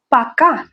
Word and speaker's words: пока: Next one is пока. Пока. That's bye, informal. Use this with friends and family. That's similar to привет. Пока. Пока. The stress is on the last syllable.